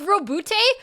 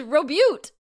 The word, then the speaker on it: Roboute: It's Roboute? I've been saying his name wrong the whole time and no one corrected me? I thought it was Robute.